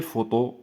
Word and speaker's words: photos: ont pris de belles photos donc P h f p avec H se prononce F ils ont pris de